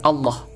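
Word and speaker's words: الله: bacaan tafkhim contoh Rasulullah jadi lafal Allahnya itu masih tetap Allah Allah tapi kalau ini jadilah rasullilahi rosulillahi seperti itu itu bacaan antar Taro tipis kalau ini tetap tebal Rosulullah ya teman-teman Ya baik kita lanjutkan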